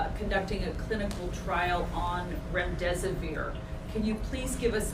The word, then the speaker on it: remdesivir: UCI Medical Center, as you know, is the only hospital in Southern California conducting a clinical trial on remdesivir.